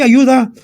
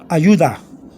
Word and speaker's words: ayuda: So you got the slight D-T-H sound. D-T-H sound. You have a U-D-A. See the vowel? Ayuda. You can say ayuda That's good. You can say it that way with just a DA, or ayuda with a slight D.